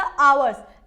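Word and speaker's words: hours: यह क्या है ना ह जो हमारा ह क्या है साइलेंट है इसको हम लोग क्या अवॉर्ड्स पढ़ते हैं क्या अवर्स इसलिए यहां पे क्या आशाओं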